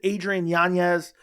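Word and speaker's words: Adrián Yáñez: Martinez versus Adrien yanes I know people are going to say you're pronouncing his name wrong but this is how he always says you pronounce his name and I've been every time I get comments on you're pronouncing his name wrong but his name is Adrien yanes you have Jonathan Martinez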